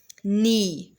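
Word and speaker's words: knee: बोलेंगे रंग आंसर अब आंसर में डब्लू की प्रोनाउंस नहीं की जा रही तो डब्लू को अंडरलाइन करेंगे नी नी के अंदर किस चीज की प्रोनंसिएशन नहीं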